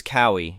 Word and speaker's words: Kawi: My name My name is Kawi. In Hawaiian, each vowel is pronounced. None are silent.